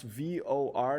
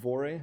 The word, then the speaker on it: VOR: do missions with it for your information pronounce v o r not vorae okay v o r